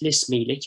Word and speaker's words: Lis Mílic: I've recorded the pronunciation from him directly, so it's Lis Mílic, as it would be in Irish.